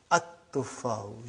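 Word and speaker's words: التفاح: But now your mind knows that is a sun letter. So you will pronounce as at-tuffahu. You will put a shadda anta.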